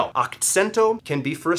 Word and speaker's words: akcento: So akcento and singing, and you can also think of this, Akcento. I sent the accent to the second syllable.